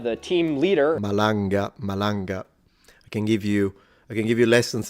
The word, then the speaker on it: Malanga: Corrado Malagana, the team leader. Malanga. I can give you lessons on how to pronounce the names.